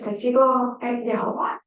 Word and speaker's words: Testigo de Jehová: Bring in the client's spirituality, so anything from Indígena, Santeria, Jehovah's Witness, Testigo de Jehová, that's how you say it, is really big in Mexico.